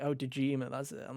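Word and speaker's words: Dojima: and i'm like oh dejima that's it i'm like okay yeah i remember his because it rhymes with kojima of course you do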